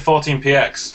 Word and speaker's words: 14px: PX or what's the well I've always said 14 PX but people have said 14 pixels I'm not